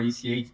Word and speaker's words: ECA: Uh so here in Brazil, Ekka is the the same thing like you in English. So I just found it was a funny like pronunciation of the name but eka or eka or ech both works they stand for editor code assistant.